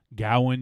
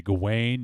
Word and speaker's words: Gawain: ravenchaler you can say gowan you could say gawain you can say g wayne whatever the [ __